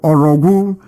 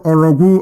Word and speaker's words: Orogwu: His name is Barrister Cyril Orogwu. Cyril Orogwu. Orogwu is spelled O-R-O-G-W-U.